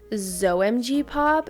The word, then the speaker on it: XOMG: And the only other way that I can think of to pronounce it would be ZOMG pop if like the X was to be pronounced as a Z.